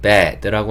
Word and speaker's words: bed: 침대는 bed라고 하시면 되고요.